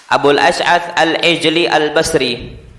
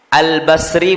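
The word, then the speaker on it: al-Basri: sini disebutkan Ahmad Ibnu Al bashri Al Basri bukan al-bashri Al Basri dari mana karena kadang-kadang dulu santri ada yang bacanya al-bashhori itu pandangan mata al-bashri nisba dan Ilal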